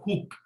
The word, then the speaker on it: Hooke: So basically in 1665 Robert Hooke, okay, त्यांचं जरी ते शेवटी ई असलं, it is pronounced as Hooke.